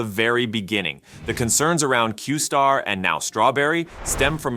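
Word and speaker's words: Q*: is quite the opposite originally this model was known as Q asterisk pronounced qar within open AI this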